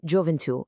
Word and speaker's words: gioventù: Because the ends were abruptly truncated, the accent now rests heavily and permanently on that final vowel.